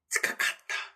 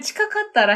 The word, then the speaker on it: 近かったら: 근데 거센 이런 느낌으로 발음을 하셔야 돼요. 치카카타라. 그냥 치카카따라 해도 돼요.